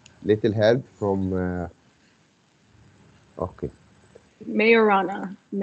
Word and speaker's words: Majorana: question leave so it is it is called majorana fairviews right i think i i pronounced the correct now little help from uh okay mayorana like the the the j is a why